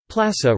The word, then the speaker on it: Plasă: Plasă, Romanian pronunciation, plas, plural plasi, place, was a territorial division unit of Romania, ranking below county Judei and above commune.